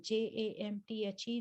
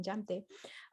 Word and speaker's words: Jamthe: Jamthe, as in my name, Jamthe. J in my name is not silent for those of you who are trying to pronounce it. I'm not Amte, I'm Jamthe.